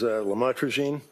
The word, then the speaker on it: lamotrigine: the drugs, about the Lamictal, otherwise known as lamotrigine. Did I pronounce that right?